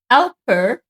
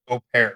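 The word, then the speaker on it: au pair: So I came to this country in a cultural change program that is called Alper. Is it AU? Au Opair. It's Opair. Opair. Yeah, I always pronounce it right.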